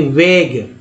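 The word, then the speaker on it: vague: उसके देखिए वेग, वेग वेग हो गया, ए के बाद ई आता है तो उच्चारण ए का ए के रूप में आता है, यू को तो साइलेंट कर ही दिया गया है तो यू यहाँ भी साइलेंट हो गया है क्योंकि इसके पहले जी आया, सभी में जी आया,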